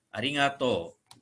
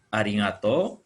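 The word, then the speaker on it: ありがとう: Berikutnya, ya kalau kita berterima kasih, kita mengucapkan terima kasih secara umum, itu arigato atau lengkap ya, arigato gozaimasu. Ya, hiragananya. Arigato, to-nya bunyi panjang pakai u, arigato.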